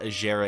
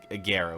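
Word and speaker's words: Agera: probably pronouncing that wrong it's not a shara it's a guerra which doesn't sound as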